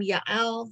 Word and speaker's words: Yael: deborah same person similarly i'm pronouncing the name yael the way it is in hebrew the way it is in the tana often in english it's